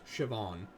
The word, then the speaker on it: Siobhan: I know that if I know that it's S I O B H, it's Siobhan.